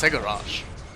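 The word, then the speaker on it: Cegorach: is for he's pregnant his name is pronounced segarash and his entire thing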